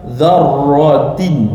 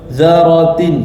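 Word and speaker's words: ذَرَّةٍ: Macam saya bagi tahu cara baca kalau ada jumpa huruf bertanda bersabdu dan tasydid pastikan zar zarratin jangan baca zaratin salah dia ada tanda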